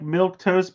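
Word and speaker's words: milquetoast: know although it's not it's said like milk toast but it's spelled m i l quu t o a s t it means a timid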